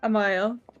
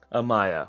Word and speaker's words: Amaia: Amaia. Amaia.